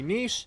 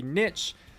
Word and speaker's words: niche: Like the word niche comes to mind, because it can be niche, it can be niche.